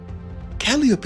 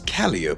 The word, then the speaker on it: Calliope: But Calliope is special for one simple reason. I didn't pronounce it right, did I? You see, Calliope is not actually pronounced as Calliope, but it's really pronounced calliope, which is very traumatic for me.